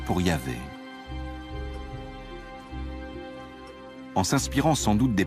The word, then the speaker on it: Yahvé: Dans l'un des récits, Abraham appelle Dieu par son nom propre, qu'on prononce traditionnellement Yahvé.